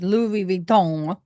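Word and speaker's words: Louis Vuitton: ladies my dear friends did you not hear how he said Louis vuon that is the proper way to say it I want to hear it one more time Louis Von I can't do it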